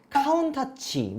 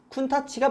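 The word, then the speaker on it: Countach: 90년도에 이 람보르기니 쿤타치를 보신 분들은, 혹은 아시는 분들은 카운타치 이렇게 아시는 분들도 있어요. 이게 원래 쿤타치라는 이름이 맞는데 일본에서 이 넘어왔던, 그러니까 발음 문제예요. 일본에서는 얘를 카운타치라고 한다고 합니다. 원래 차명은 쿤타치가 맞고요.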